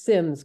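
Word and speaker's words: Symmes: Anna Harrison's maiden name I always wondered if it was Sims or Sims but it is Sims correct yes that's correct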